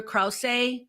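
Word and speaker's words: Krause: starring Angela Basset and Peter crous that is how you say his name CR and if you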